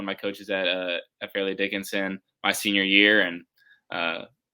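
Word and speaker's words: Fairleigh Dickinson: went to uh is it fairly am i pronouncing yeah yeah fairly dickinson um how was the recruiting process were there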